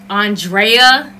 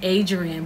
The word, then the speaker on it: Andrea: followed followed along with Andrea that's how you say her name I've been saying Adrian but it's Andrea Renee she has a tutorial